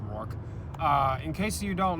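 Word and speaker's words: Rooker: case you don't know i believe it's it's pronounced rook uh in case you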